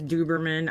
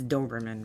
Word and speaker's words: Doberman: He says Duberman. I say Doberman. We just kind of mess around. We know it's Doberman, really, but I call it, I don't know.